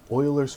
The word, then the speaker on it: Euler: In this video, I want to introduce you to Oilers's formula. And yes, that name is pronounced Oiler despite how it may look.